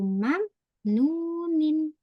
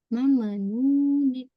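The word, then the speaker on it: مَمْنُونٍ: Kalau ada mim sukun, jangan dipantulkan. Jangan mame. Hmm, Mame. Runa. biasa. Ajruna wairu mamanunin. Ah, kakak gitu ya bacanya. Bukan gitu, tapi ajrun wairu mamnunin. Bukan mamenunin. Mamenunin.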